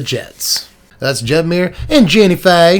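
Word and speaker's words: Jinnie Fay: that's jeb mir and jenny faye now i'm from the south and i've known a few people named jenny fey and you have to say it like that jennifer jetmire's second and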